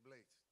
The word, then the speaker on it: Blades: My father's father is English, and that's where Blades comes from.